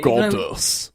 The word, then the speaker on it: Godus: saying goddess goddess it's when you say it sounds like you're saying goddess it's goddess I'm yeah it's hard to pronounce with an English actually goddess goddess well Peter mull